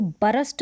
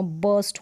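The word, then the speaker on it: burst: यहां पर है पोस्ट अब इसको भ्रष्ट नहीं पढ़ेंगे इसका उच्चारण हो जाएगा बस जैसे यहां पर लिखा है वर्स्ट मतलब विस्फोट विस्फोट अचानक से कोई विस्फोट होना बर्स्ट होना फिर क्या मतलब लहरें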